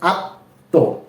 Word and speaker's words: আত্ম: রয়েছে ত এর সাথে এজন্য এই ত টা দুইবার উচ্চারণ হবে এবং ম এর কোন উচ্চারণ এখানে আসবে না যেমন স্বর আ ত ম ফলা কি হয় আত্ত আত্ত ঠিক আছে এরপরে